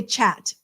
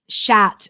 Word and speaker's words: chat: Cat it's spelled C-H-A-T, and then I want to say chat. Like chat noir, right? Is black cat. But it's not pronounced chat, is it? Durian. There's a fruit called durian that would be spelled like that without the space. Oh no, that's an A-I-A-N. Shat. Okay. It's spelled with a C-H, but it's an S-H sound.